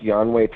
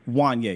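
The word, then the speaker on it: Juanyeh: I actually like, I think his name is pronounced Yanway Thomas, I think. Did I pronounce his name correctly? Wanye, yeah.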